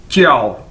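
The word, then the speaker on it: 叫: आपने पहले भी देखा है कि जे को हम चे के तौर पर इसको प्रोनाउंस करते हैं, यानी जे चाइनीज के अंदर चे के तौर पर प्रोनाउंस किया जाता है, बोला जाता है।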